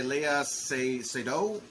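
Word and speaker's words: Léa Seydoux: the capabilities of doing uh madeline played by leia seido and this is how you say it she's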